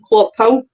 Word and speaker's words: Clophill: Is that how you pronounce it, Jack? In Clophill?